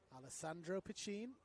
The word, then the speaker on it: Alessandro Piccin: AP, as he is known to his teammates, Alessandro Piccin. Jude Dolan has flagged me that is how the name is pronounced.